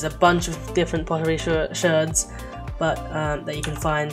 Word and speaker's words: sherd: Back over here, using these pottery sherds, that they are the technical word for them is sherd, so I am pronouncing that right, not an accident.